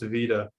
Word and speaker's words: Veta: From Veta, pronounced Vita, would you rather always miss your first round race or get 5th in every qualifying round?